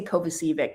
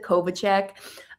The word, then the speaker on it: Kovacic: uh Joseph Kov, I always say Kovacic because that's reminds me how to spell it, but it's Joseph Kovichek.